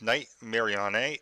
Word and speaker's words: Nightmarionne: Mary on a and that's how I'm well pronounced name because that's how it's spelled in game we all know suppose be night marionette but that's not how it's written and unfortunately for billable